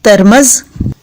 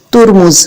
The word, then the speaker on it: ترمذ: اہمیت کی حامل ہیں۔ اب لفظ ترمز کا صحیح تلفظ دیکھ لیجئے۔ لفظ ترمز کے ضبط اور تلفظ میں کئی اقوال ہیں اور یہ 4 طرح پڑھا گیا ہے۔ نمبر 1 تا اور میم مفتوح کے ساتھ ترمز، نمبر 2 تا اور